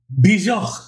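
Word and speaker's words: Björk: And I was like, all right, you know, let's check out Yorkie? No, that's a dog, right? No, not like Bjork. Let's check out, let me get the pronunciation right. Bjork.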